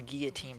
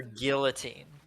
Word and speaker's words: guillotine: You're pronouncing the L with this one." Why? Because I can't think of anyone, especially someone doing voice acting for a company in New Zealand to not pronounce guillotine properly.